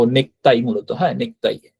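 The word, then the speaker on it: ネクタイ: উচ্চারণটা আসে না হ্যা তো নেকতাই মূলত হ্যা নেকতাই তো কুটা কয় মত উচ্চারণ হবে নেকতাই নেকতাই মানে মূলত যেটাই আমরা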